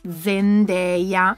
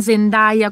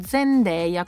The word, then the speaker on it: Zendaya: ho spoilerato tantissimo e si chiama zendeya No non Zenda come tanti state dicendo zendeya Come vi dicevo C'è